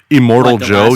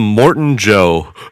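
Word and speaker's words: Immortan Joe: Instead of like immortal Joe, you Yeah. You just called him Morton Joe. Morton Joe. Yeah. You know, just like the hospital.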